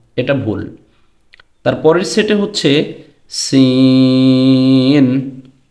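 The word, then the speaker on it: سين: তারপরের সেটে হচ্ছে সিন, সদ। সিন এবং সদের মধ্যে পার্থক্য আছে। সিন এটা উচ্চারণের সময় জবর দিয়ে উচ্চারণ করলে সা হয়, সদ এটাকে জবর দিয়ে উচ্চারণ করলে স হয়।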